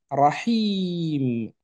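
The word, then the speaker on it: رحيم: Alors, pour Rahim, vous entendez logiquement le Ra toujours, ok, avec le son A.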